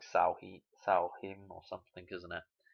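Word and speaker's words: Samhain: Something like Salhim or something, isn't it? It's not pronounced how it looks. Anyway, so Halloween. It's funny, it's pronounced Salheem. I think it's pronounced Salheem, something like that.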